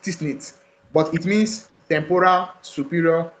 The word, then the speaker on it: TSNIT: It is pronounced TSNIT, but it means temporal, superior, nasal, temporal map.